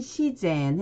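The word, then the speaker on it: 自然: 일본어 발음은요. 자유는 지유, 자연은 시젠 해서 요건 또 시로 읽어줍니다.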